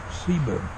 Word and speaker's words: Ceiba: It's pronounced Ceiba, spelled with a C.